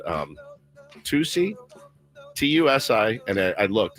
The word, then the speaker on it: tusi: Everyone's saying it potentially is is called um Tusi, TU SI, and I looked, it's how you pronounce it, Tusi.